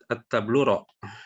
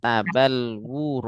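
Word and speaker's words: تبلور: At-tabluro. Tabluro. Yang benar tabalwuro. Oh, tabaluro. Tabalwuro ya. Baluro. Ini mengikuti Tafa'ala. apa namanya itu?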